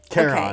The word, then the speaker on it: Charon: Well, Charon okay.